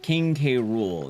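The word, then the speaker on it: King K. Rool: No, K Rule uh pronounced uh King K Rule.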